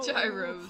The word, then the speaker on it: gyro: Gyros. Although it's I can't believe I said technically gyro. pronounced gyro. Although I still wanna call it a gyro 'cause it sounds cooler.